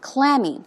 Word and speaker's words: clammy: As we say, the stress goes on the first syllable, clammy. It's cold and damp, covered with moist, basically sweaty hands, okay?